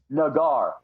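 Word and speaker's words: Naggar: Chris, it's pronounced Nagar, by the way. Chris Nagar, who played some at Texas, then SMU, played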